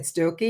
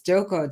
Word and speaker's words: Stokoe: say your surname because I would have said stoy and it's stoko sto yeah everybody says stoy stoko do oh yeah just yeah just just the silent E Yeah so thank you